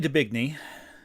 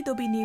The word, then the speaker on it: d'Aubigny: names as a whole, Julie Debigny, who I'm sure that's not how you pronounce her name. Let me get an actual pronunciation of her name. An actual pronunciation of her name. Julie d'Aubigny was a famous 17th